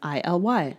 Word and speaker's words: ILY: And the message that I just happened to get on the very first try was I love you, as in ILY, as in rhymes with sky and alive.